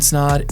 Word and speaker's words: Snaadt: My name is Ryan Snaadt. It Rhymes with Odd, and you're watching and listening to Rhymes with Odd podcast.